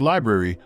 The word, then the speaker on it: LBRY: LBRY, pronounced library, was the next project on the chopping block.